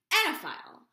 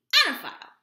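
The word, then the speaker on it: oenophile: Anaphile. O E N O P H I L E. Annaphile. There is an O. She might be silent.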